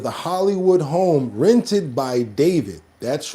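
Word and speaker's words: d4vd: It's pronounced David, but it's spelled uh with um with a four.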